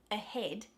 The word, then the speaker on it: ahead: word, which is ahead, that A in the beginning is not stressed. The stressed syllable in the word ahead is head, That a, it's not ahead. You would look at that and think, oh, that's probably a short A sound, but instead we replace that short A with a sound, and that's your schwa, okay?